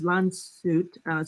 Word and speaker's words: Landshut: It's pronounced as Landshut, so Bavaria region, right?